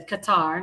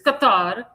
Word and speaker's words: Qatar: That's how you say Qatar, not Qatar. Qatar. That's how that's how the Arabs pronounce it. It's Qatar.